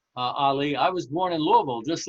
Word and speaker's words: Louisville: happens that I'll I'll say it the way it's pronounced Louisville Louisville uh I was born